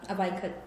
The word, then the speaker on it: Ivanka: She's been telling me about the Ivanka... How does it pronounce her name? Ivanka Trump. Ivanka Trump. I just think of I want a Trump. So I go Ivanka okay.